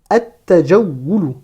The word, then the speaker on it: التجول: Faites attention ici, le lam ne se prononce pas. Le lam de l'article L ne se prononce pas. Pourquoi? Parce que le ta est une lettre solaire. Je passe du alif au ta directement.